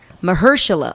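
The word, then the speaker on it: Mahershala: anyway um Boer was notot juice I can't pronounce his name right and I feel bad it's Mersa oh there we go I did it you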